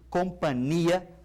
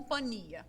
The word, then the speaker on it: companhia: dança Companhia de Seguros sempre com nh não existe língua portuguesa companhia apenas com n nem na pronúncia e nem na escrita nem na escrita apenas uma palavra com dois sentidos Então vou te fazer companhia não com compania isso compania se você diz companheiro diga companhia ninguém diz companheiro por